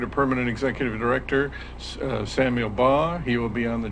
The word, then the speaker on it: Baugh: How was the last name pronounced? Baugh, B-A-U-G-H.